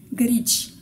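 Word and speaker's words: գրիչ: Et le dernier exemple, grich. On dirait un mot court, mais ça fait deux syllabes.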